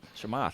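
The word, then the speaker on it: Chamath: gentleman whose video we played was his name chamoth say his last name again he do it he was a big wig at Facebook right say his name bro shamath he's just known as well chamata broke it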